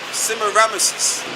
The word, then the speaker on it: Semiramis: Semiramis.